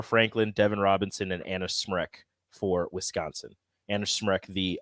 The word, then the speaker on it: Smrek: Anna Smrek. Tough name to pronounce.